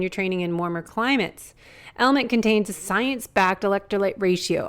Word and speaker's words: LMNT: sponsors LMN element it's spelled LMN T but pronounced element if you haven't heard